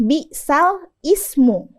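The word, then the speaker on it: بِئْسَ الِاسْمُ: coba kita baca Ya di sini kan tulisannya bisal Ismu nah tapi bacaan ini berat bagi orang Arab dari itu bacaan ini harus kita ee baca dengan naqal kita pindahkan harakat kasrah yang ada di Hamzah di di isem ke huruf sebelumnya yakni huruf lam jadi bacaannya balismu bisalismu yang dikasrahkan huruf lamnya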